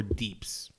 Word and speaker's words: DPS: At least in World of Warcraft, it's either DPS or Deeps. DEEPS. Deeps. Oh. That's how. I mean, Okay. you spell it as DE, like the word Deeps, but it's referred to DPS.